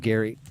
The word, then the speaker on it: Gary: It's pronounced Gary. It's a hard G. Hard R.